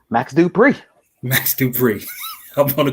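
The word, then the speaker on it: Max Dupri: uh what's his name max dupree max dubree i'm gonna call him ellie knight you're saying it wrong it's max do you pray because he's the one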